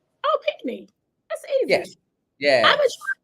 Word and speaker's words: Pinchney: It's Pinchney, as if your knee was pink. Oh, Pinchney.